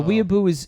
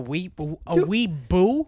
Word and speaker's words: weeaboo: You're saying it wrong, but I'm not going to correct you on the pronunciation because I'm enjoying hearing you mispronounce it. Is it a V or a B? Weeaboo. Weeaboo? Here we go.